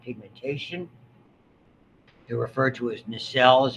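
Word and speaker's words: Nissl: certain amount of pigmentation they're refer to as nisel is how you pronounce that name chromatophilic substances in the rough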